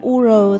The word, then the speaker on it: Ur: nhũ nam châm của Ur Sugar Thực ra là mình cũng hơi bị phèn ý, toàn gọi là U R thôi chứ không đọc là Ur đâu Cái nhũ này mình